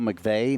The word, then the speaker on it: McVeigh: LinkedIn is the one so just obviously McVey on there Instagram is a good way if